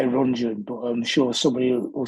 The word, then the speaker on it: Rundgren: Kind of Todd Rundgren was a big one. I think that's how you say his name, isn't it? Todd Rundgren, Rundgren. I would say Rungeon, but I'm sure somebody will say, "Oh no,